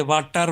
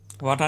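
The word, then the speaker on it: water: اور آر ہے EROR جو ہے اس کو ہم بالکل اسی تلفظ سے واٹر بولیں گے, واٹا نہیں بولیں گے.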